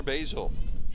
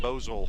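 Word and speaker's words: Boesel: the roller to Claire Basil, spelled B-O-E-S-E-L. Thank goodness for the coach over at Monroe Community College that gave us the pronunciation on that one, because we would have been Bozol.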